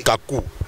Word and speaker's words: Kacou: film du Jugement Dernier vous prononcez mal c'est Kakou bon ça c'est vous